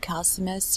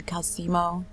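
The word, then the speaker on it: Calcelmo: right so let's go turn the question to calcimus or i mean calcimo sorry i'm so bad at word pronunciation i have no excuse for myself except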